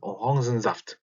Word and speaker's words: Orangensaft: 이거 이 읽는 방식은 프랑스어 계통으로 읽기 때문에 orange 이게 몇몇 단어들이 그런 뭐랄까 프랑스어 계통들의 단어들이 있어요. 그래서 Orangensaft 이렇게 오랑겐 하지 않습니다. Orangen 이거를 orange라고 읽기 때문에 Orangensaft가 됩니다.